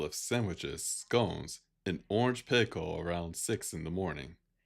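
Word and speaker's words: pekoe: Mirror served a light meal of sandwiches, scones, and orange pico around 6:00 in the morning.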